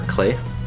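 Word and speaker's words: Klei: This is a game by Brace Yourself Games, and it's self-published by Brace Yourself Games, as well as with Clay Interactive, or Clay, or rhymes with play.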